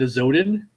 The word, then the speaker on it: Azodin: find out who now how do you pronounce it is it a zoden yes it is a Zodi yeah all right so